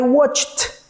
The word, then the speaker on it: watched: Number 1, it says, I watched TV last night. Okay? In that example, you see that watch is like a no vibrating sound, watch. Okay? That's why I pronounce it like this, watched.